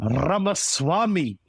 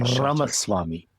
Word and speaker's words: Ramaswamy: But the one I want to talk about, and this is my hot and spicy takeaway, is fellow Brownman, Vivek Ramaswamy.